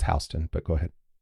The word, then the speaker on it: Houston: It's Hston, but go ahead. It's not H. It's pronounced Hston.